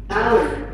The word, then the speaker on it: hour: hope, Ho. Terus kayak kata ini nih. hour, Hour. Bukan ho. Hour.